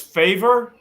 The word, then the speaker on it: Favour: one more time Bill it is favor just like the the you do me a favor favor a Kei is how he pronounces his name I can handle that